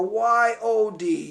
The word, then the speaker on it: Yod: It is the 10th letter with the numerical value of 10, and it is pronounced Y-U-D or Y-I or Y-O-D, Yod.